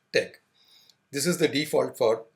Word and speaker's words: TeX: Tech the extension of the file is Tech although it has the spelling T ex it is pronounced Tech this is the default